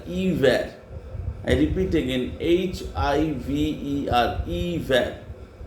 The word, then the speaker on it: hiver: Then winter, hiver. H is not pronounced, H-I-V-E-R, hiver.